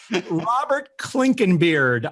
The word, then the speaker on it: Clinkenbeard: with us right now, a guy who probably has one of the coolest last names in recent memory of podcast guests, Robert Clinkenbeard.